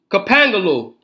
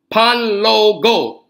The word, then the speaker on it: Panlogo: Kapangalo, excuse me, that's not how you say it, y'all, is Panlogo.